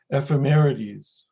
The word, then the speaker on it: ephemerides: pronounce this for me i always pronounced a femoris like that is that right see this again ephemeris ephemerides femerity's for the plural yes okay what's that